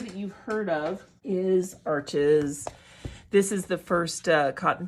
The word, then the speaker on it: Arches: This is a hot press, and then the cold press is the typical paper that most artists know about, Arches or Arche as it's pronounced.